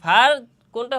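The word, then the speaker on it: فاء: ফার মাখরাজ কোথায়? ফার মাখরাজ হচ্ছে সামনের উপরের দুই দাঁতের আগা এবং নিচের ঠোঁটের পেট।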